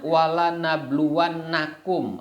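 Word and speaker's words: وَلَنَبْلُوَنَّكُمْ: Itu bacanya walanabluwannakum, ada huruf lamnya, ada huruf nunnya.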